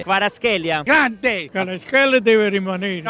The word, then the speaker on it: Kvaratskhelia: Caravasqueia. Ma dopo 2 anni ancora non ci abbiamo imparato. Ma voi che pulite, non lo so pronunciare. Kvaratskhelia. No, Kvaratskhelia. Kravaskhelia.